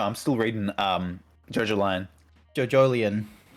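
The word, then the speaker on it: JoJolion: JoJolian. Yeah. That's because apparently that's how you're supposed to pronounce it, because it's meant to be like a mixture of JoJo and Evangelion.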